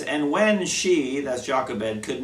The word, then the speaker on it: Jochebed: my names straight because it's pronounced differently in English and in Spanish and I go backwards and forwards but Jacques Abed is the best I can come up with and so we're gonna